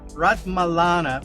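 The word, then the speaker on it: Ratmalana: Rat Malana, which is where the new airport is, which nobody uses.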